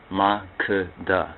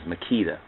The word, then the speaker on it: Makeda: of Sheba and and Maka Maka that's the prop pronunciation though I know some would pronounce the name as Makita but most those speakers who pronounce as Makita most likely are not mhar or Ethiopian speakers but the story of